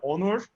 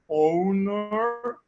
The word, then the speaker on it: Onur: In Turkish, my parents are from Turkey. And they pronounce it Onur. Okay. And the Germans say owner, and the guys from America says also owner, and it's okay.